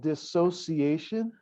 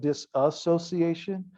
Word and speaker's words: dissociation: a word it's called dissociation i will mispronounce it a lot i will call it dis association doesn't matter i mean the same thing okay with that dissociation